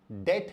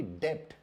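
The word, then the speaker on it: debt: ये गलत है, क्योंकि अंग्रेजी भाषा में बहुत सारे लेटर्स साइलेंट होते हैं और इस शब्द में भी बी साइलेंट है, इसलिए इसका उच्चारण डेट है ना कि डेप्ट।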